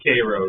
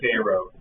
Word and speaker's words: Cairo: Cairo, Illinois is very fascinating. I know they pronounce it Cairo. Yeah. Locally they call it Cairo.